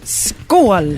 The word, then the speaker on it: Skål: Skål. Skål. And how do you spell that?